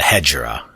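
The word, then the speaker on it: Hegira: say Islam really started the hedgerow I believe is how it's pronounced each e G IRA after this Islam spread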